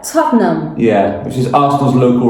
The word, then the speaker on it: Tottenham: Tottenham. Tottenham. There is a trick there. Tottenham. Yeah. That's good to know. I didn't know that. Tottenham.